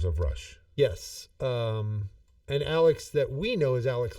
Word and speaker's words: Alex: Elwood per um so I'm sorry Alex not leex Alex uh so written by the members of Rush yes um and Alex that we know is